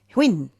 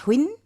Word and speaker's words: Huyen: How do you pronounce it? Quinn. Hinn. That's it. Yes, that's right. Excuse me. Okay. So, that's Hinn.